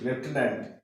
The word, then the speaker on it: lieutenant: রাখবো কি করে হ্যাঁ কারণ যা উচ্চারণ রয়েছে লেফটেনেন্ট সেই হিসাবে কিন্তু এর স্পেলিংটা লিখা হচ্ছে না তাহলে আমরা মনে রাখবো